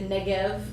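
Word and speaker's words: נגב: So if you, that's why the Negev, even though it ends in a B, you pronounce it with a V.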